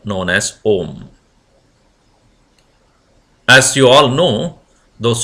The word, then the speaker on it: Om: Brahman is symbolically represented by this single syllable known as Om. As you all know, those who have studied Vedanta will surely know, it is constituent of 3 letters or the sounds A, U and Ma.